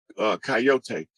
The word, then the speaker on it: Kiote: Coyote. That's an indigenous name. That's actually the tribe whose totem is the coyote. Mm. And it's spelled that way, and it sounds like coyote or coyote, but it's a tribe.